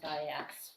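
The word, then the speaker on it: Zaiac: I also want to just check Nick Ziak, is not Nick Zak in there, Z-A-K, but it's Z-A-I-A-C, and it's pronounced Ziax.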